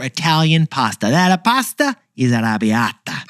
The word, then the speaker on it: arrabbiata: That pasta is arrabbiata. Whoa, that is not how I would have said that. I leaned into it, and that was the correct pronunciation.